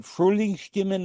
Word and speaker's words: Frühlingsstimmen: Is it Frühlingsstimmen, the voices of spring? Yes, Frühlingsstimmen.